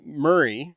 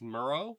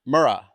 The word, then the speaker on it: Murrah: By the way, in the first two episodes I said the building name wrong. Oh, would you say? So, it's not Murray, it's Muro. Mura.